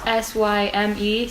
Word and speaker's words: Syme: We don't know how to pronounce his name. It's Syme, so we're just gonna call him Sim.